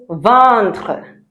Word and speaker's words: ventre: The next word we look at is "ventre". "Ventre". "Ventre" is stomach. "Ventre". Okay, it's not "ventre". "Ventre". Right.